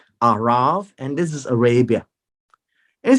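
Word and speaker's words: ערב: transliteration of the language it is a r a b but pronounced as a V at the end arav and this is Arabia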